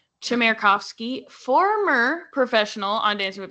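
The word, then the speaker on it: Chmerkovskiy: Chamovski. Chairovski. I was like, what's silent? Something's got to be silent. Um, nothing is silent. Chamarovski, former professional on Dancing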